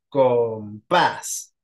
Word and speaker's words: compás: va a llevar tia pasa igual con compás compás sí sílaba tónica en la última de derecha de izquierda a derecha perdón y termina con s entonces va a llevar